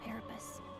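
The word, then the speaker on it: Paripus: She's a parapus. Parapus. That's how you pronounce it.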